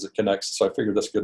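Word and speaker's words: Knex: different people talk about the connect system as next because in the English were used to pronouncing KN as a the K is silent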